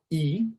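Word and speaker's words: い: আর এটার উচ্চারণ হবে ই, হ্যাঁ, এটার উচ্চারণ হবে ই।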